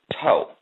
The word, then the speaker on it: THOH: The mantra to be used is THOH, pronounced toe.